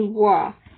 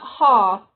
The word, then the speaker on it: は: Well, this is supposed to be wa, although it's not ha, even though it's giving you the signal of ha. It's giving you the hair gun of ha, you actually pronounce it wa.